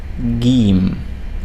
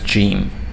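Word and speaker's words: جيم: the tricky letters because in most parts of the arab world it's pronounced as je as in the sound j in the word george in english but in other parts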